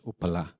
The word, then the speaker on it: Upala: to Wat Pah, is derived from the Pali word which we would pronounce as Upala.